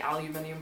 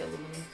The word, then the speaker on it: aluminium: Well, actually I say it was supposed to be aluminium, but I say aluminum.